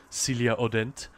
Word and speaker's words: Celia Hodent: I think she's French so I don't think the H is pronounced but Celia Odent.